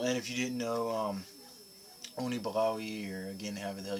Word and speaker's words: Unibroue: This is only my third one from, I believe it's pronounced in French, Unibroue, or Unibroue, or something like that.